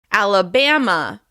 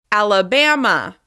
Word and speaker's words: Alabama: The first state is Alabama. Alabama. The stress is on the third syllable. Alabama. Alabama. Be sure to hold that stress syllable as you rise to your highest pitch. Alabama. Alabama.